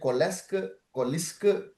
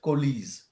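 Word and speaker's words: coalesce: Uh a lot of people pronounce it kles kiska but it is the actual way is kies.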